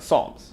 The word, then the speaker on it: Psalms: The Book of Psalms that's how it's pronoun Psalms Psalms yes every single time I get nervous that I'm going to pronounce it wrong cuz it looks it's spelled so weird but Psalms welcome to